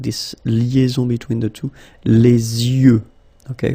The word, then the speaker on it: yeux: Les yeux. Okay, final X not pronounced. Les yeux.